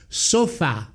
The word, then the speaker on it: sofà: In Italian the word must be TRONCA, therefore the tonic accent must fall on the last vowel, just as the word is pronounced in French: SOFÀ.